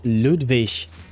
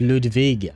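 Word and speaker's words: Ludwig: Oh, and he pronounces it Ludvish, not Ludvig.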